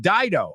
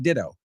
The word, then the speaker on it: Dido: and they're like, oh, this is the new song with Dido. I'm like, oh, it's not ditto.